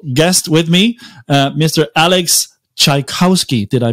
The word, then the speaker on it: Czajkowski: and very special guest with me mr alex tchaikovsky did i pronounce that correctly alex correct absolutely welcome to